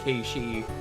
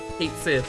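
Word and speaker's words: Cait Sith: Hate hate Sith or as it as it's really called Ki.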